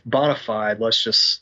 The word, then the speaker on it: Bonafide: It's Bonafide. That's canon now. Let's pronounce it the way it's spelled.